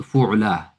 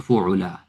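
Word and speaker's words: فُعْلَى: So fu'la, although you see it, but it will pronounce with alif. All right, because you can say lam has a fatha on it. Right? So fu'la, fu'la, fu'layani.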